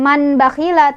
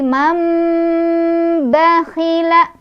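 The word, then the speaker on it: مَنْ بَخِلَ: Cara bacanya nun sukunnya diganti dengan mim sukun. Jadi bukan man bakhila tapi mam bakhila dan berdengung dulu.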